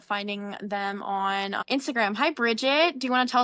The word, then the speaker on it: Brigitte: So, and I know you'll probably you might have to go, but just so my name is pronounced Bridget.